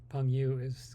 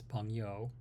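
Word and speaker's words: 朋友: So Peng Yu is not the right way of saying friends. It's Peng Yo. It's just reading it, and trying to pronounce it in an American way.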